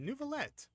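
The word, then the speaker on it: Neuvillette: here as well but they all call him nervet there's no R in his name though so like why are they calling him nalet instead of nuet net was here too even Pon said it right nalet they call him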